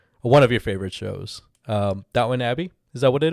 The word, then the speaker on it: Downton: It's written downtown, but it's pronounced Downton, right? Yeah. Downton.